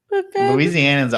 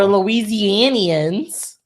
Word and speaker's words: Louisianians: Louisianans aren't good at pronunciating. That's just First of all, we're Louisianians. You didn't pronunciate our name right.